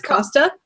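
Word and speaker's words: Costas: it was lovely because I actually have a silent S at the end of mine. Your name is Costa? Yeah. The S is silence, but everyone kept pronouncing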